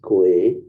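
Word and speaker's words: 鬼: ghost is pronounced as gui which sounds the same as the word which means to return this means that when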